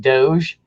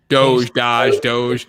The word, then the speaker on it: Doge: Like Doge? Doge. I'm not into the crypto side of things, so that obviously could have messed up. It's a soft G.